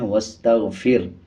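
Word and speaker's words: واستغفره: वक़फ़ करते हुए यूँ पढ़ देते हैं वस्तग़फ़िर, आखिर में जो हा है इसको छोड़ देते हैं, बल्कि इस पे जब वक़फ़ किया जाएगा तो हा का पेश साइलेंट हो जाएगा और हा की आवाज़ को आधा निकाला जाएगा।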